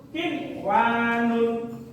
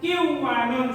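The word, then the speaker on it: قِنْوَانٌ: Kin wanun. Diperhatikan, tegas, bukan kiwanun seperti ketika di luar kalimat, tapi jika di dalam kalimat dibaca jelas.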